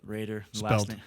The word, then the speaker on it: Roeder: name Raider yeah Raider last name is spelled r-o-e-d-e-r spelled like rotor pronounced Raider but yeah you'll just